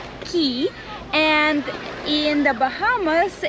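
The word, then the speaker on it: Caye: we went to belize it's spelled c-a-y-e and pronounces key and in the bahamas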